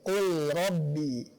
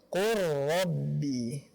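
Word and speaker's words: قُل رَّبِّ: Akan tetapi dibacanya bukan sesuai dengan hukum asalnya, izhar, bukan seperti ini, qul rabbi. Akan tetapi qur rabbi.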